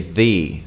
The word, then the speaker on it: the: they and the V there are two possible ways to pronounce this word V and the right it all depends on the word that comes after so if it starts with a vowel you say thee like the earth or the actor because it's